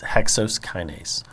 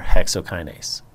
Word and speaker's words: hexokinase: to talk about is hexose kinase or hexokinase either spelling and pronunciation is correct what's important about hexa